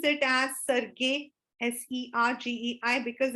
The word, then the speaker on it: Sergei: We pronounce it as Sergei, Sergei, because it's a what you call as Russian name.